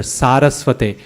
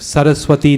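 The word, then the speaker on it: सरस्वते: That word in particular, Saraswate, Namaste Saraswate Deve, right? Now, what happens is we get all kinds of combinations of Saraswati Devi and Saraswati Devi, and people genuinely think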